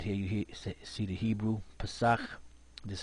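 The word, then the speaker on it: פסח: of 11 bread here you see the Hebrew Passat this is how you pronounce it is a week-long feast to remember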